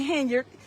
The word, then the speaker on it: Henyard: Tiff any and last name Henard. H E N Y A R D. Hen and yard. Hens in the yard.